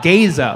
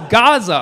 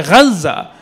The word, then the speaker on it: Gaza: Like, I heard somebody call it Gaza. Like, no, no, it's Gaza. Or if you're Arab, say Gaza. Or as Israeli, say Hamas, Hamas.